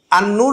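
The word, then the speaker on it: النور: যেমন আন নূর লিখছে আন নূর লিখতে যেয়ে সে আলিফ নুন নুন ওয়াও রা এভাবে লেখে না আল নূর লিখে আন নূর উচ্চারণ করে এটা শিখাইতে হবে তাকে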